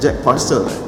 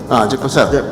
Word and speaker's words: Jack Purcell: How do you pronounce it? Jack Purcell. Jack Purcell.